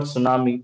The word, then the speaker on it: tsunami: So every word, I mean, the word tsunami, T is a silent.